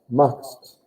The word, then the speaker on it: machst: No, it's all one syllable. Machst. And that's a bit tricky to know when you add a syllable or not.